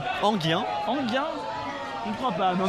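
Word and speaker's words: Enghien: Eugène, comment vous prononcez Anguien. Anguien.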